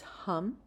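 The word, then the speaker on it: ham: be Mantra um and the sound is hum h a m with a short a again um we start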